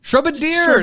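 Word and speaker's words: Shrubadier: Shrubbadier. That makes so much more sense. Like a bombardier, but they're dropping shrubs.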